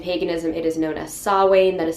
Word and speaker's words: Samhain: is halloween in paganism it is known as sawwain that is spelled s-a-m-h-a-i-n it is not pronounced samhain it is sawwain